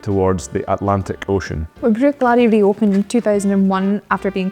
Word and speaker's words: Bruichladdich: Despite the spelling, the pronunciation is quite simple. It's Bruichladdich. It's very common in Scotch dialect for CH to be pronounced like loch.